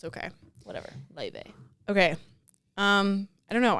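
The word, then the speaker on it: Laufey: of the week I always thought it was pronounced ly until about two weeks ago yeah I was going to talk about that the way that the name is pronounced is weird is so weird Le but it's spelled a l a u f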